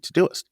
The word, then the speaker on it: Todoist: And it's just like it's spelled, Todoist, Todoist. And he said it was a complete game changer for me.